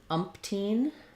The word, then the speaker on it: umpteen: And then you also asked about in umpteen um, whether or not you can omit that um, P sound. And yes, you can. Umpteen, umpteen. Um, just don't hold your M too long.